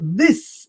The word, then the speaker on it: this: So this is a short word and ends with a s that sounds like a snake.